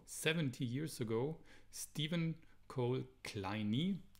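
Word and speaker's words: Kleene: So 70 years ago, Stephen Cole Kleine, it's pronounced, this guy introduced regular expressions for the very first time.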